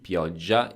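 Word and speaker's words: pioggia: be Bravo pioja b-i-o-w-g-i-a piagia is the noun um which is a bit tricky to pronounce because the double G is always very scary I don't know if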